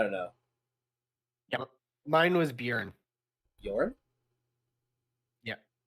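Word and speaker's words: Björn: Yeah, mine was Bjorn. Bjorn? Yeah. Say it right, Josh. Honestly. I am saying it right. It's Bjorn. It's Bjorn. Bjorn. Bjorn. The J is silent.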